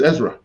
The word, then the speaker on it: Ezra: I think your name is Ezra. It is Ezra. Yeah. I did pronounce it properly.